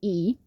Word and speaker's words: y: the same so um in spanish the little small letter y is pronounced e and e in spanish